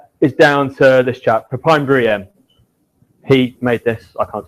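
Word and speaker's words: Pepijn: So a lot of this is down to this chap, Papine. He made this. I can't take any credit for it, but that's how you pronounce his name.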